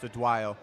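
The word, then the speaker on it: Odunayo: So she's Team Nigeria, 57 kilograms, and it's spelled Adunayo, but it's pronounced Adwayo.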